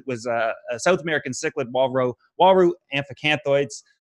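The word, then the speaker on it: Uaru amphiacanthoides: I look over at my Waru tank, which was a South American cichlid Waru amphicanthoids. That's how you pronounce it.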